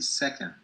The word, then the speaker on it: second: Muchas veces la O en inglés no es O sino E. Million. Second, Second. million, no second, ni million, second, million. Entonces cuando vean esta combinación, una O con una N, digan, esta no es como una O en español, esto es casi como una E.